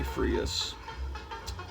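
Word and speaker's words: Freas: art or kelly freeze i used to pronounce it kelly freeze it's probably frius one of these days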